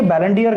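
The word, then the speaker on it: Ballon d'Or: के रूप में इसको, मतलब प्रोनाउंसिएशन अगर देखा जाए फ्रेंच वर्ड है बैलन डी आर। तो ये बैलन डी आर का मतलब डी और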